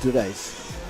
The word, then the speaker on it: Dulays: I was told I pronounced that wrong. It's Dulays. Got you.